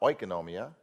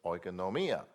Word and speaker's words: oikonomia: If you want to pronounce words correctly, you can look in the Greek dictionary and you can see where the accent is. And so it's not oikonomia, it's oikonomia. But you have to put the emphasis on the right syllable, okay? And the way you do it is you look at where the accent mark is.